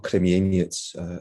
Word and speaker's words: Krzemieniec: is today Western Ukraine, a place called Krzemieniec, or Kremieniec, if we're thinking about the Russian or Ukrainian pronunciation.